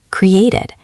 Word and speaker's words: created: Here you actually do hear the extra syllable. Listen. Created. It sounds like it at the end. Collaborated. So for these words, make sure you pronounce that final beat clearly.